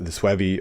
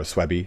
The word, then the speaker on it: Suevi: The Visigoths over here to the west, and the Vandals down here to the south, the Suevi or Suebi, whichever one you want to pronounce it as, become all tribes that